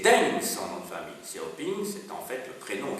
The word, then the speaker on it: Xiaoping: peut-être, non, donc Deng Xiaoping, ça s'écrit D-E-N-G, et Xiaoping, ça ne se prononce pas tout à fait comme ça, mais je préfère le prononcer comme ça, Xiaoping c'est X-I-A-O-P-I-N-G.